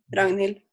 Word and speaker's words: Ragnhild: So then, and Ragnhild, is that like how you say it? Yeah, Ragnhild.